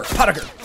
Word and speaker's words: Pottiger: The T, the E and the I is pronounced as an A, so you get three simple syllables. Pot, and ger. Pottiger.